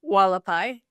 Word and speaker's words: Hualapai: The Halapai. Yep. Walapai.